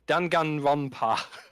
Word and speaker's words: Danganronpa: And then that reminds me, didn't they announce let me pronounce it. Danganronpa.